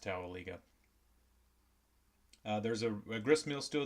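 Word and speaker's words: Towaliga: the tell Eagle River I think it's pronounced Towelie go there's a grist mill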